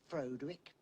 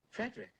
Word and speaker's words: Frederick: Do you also say Froderick? No, Frederick. Well, why isn't it Froderick Frankenstein? It isn't. It's Frederick Frankenstein.